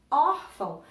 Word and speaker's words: órfão: No caso, órfão, eu tenho o or, que é a sílaba mais forte, até porque ela tem um acento agudo, né?